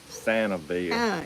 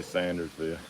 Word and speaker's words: Sandersville: sandersville the local yeah the locals say yeah santa bear but it's it's really sandersville she was the nicest